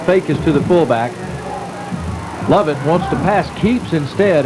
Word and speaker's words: Lovett: I believe they're crediting, and I believe it's Lovett. Lovett is the quarterback. We've been pronouncing it as Covette.